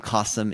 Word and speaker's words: Kasim: That's how you rhyme. Cossum is awesome.